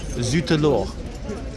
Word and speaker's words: Zut alors: They've just confirmed Zut alors is the pronunciation of the name of this horse.